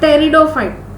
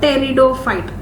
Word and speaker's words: pteridophyte: Whereas this kingdom Plantae includes algae, bryophyte, pteridophyte, gymnosperm and angiosperm. So here you will pronounce it like pteridophyte, P silent, pteridophyte.